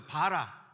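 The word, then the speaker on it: ברא: 이때 창조하다라는 단어는 히브리어로 제가 썼지만 바라라고 읽어요. 바라.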